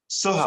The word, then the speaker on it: Soha: Soha, I think it's Soha, I think that's the way you pronounce it. And I've been corrected on that. Go ahead, Ash. Soha. Soha? Yes.